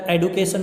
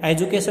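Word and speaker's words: education: बेटा एडुकेशन बोलते हैं, एजुकेशन भी बोलते हैं कुछ लोग, बट एडुकेशन इसके प्रोनाउंसिएशन होती है।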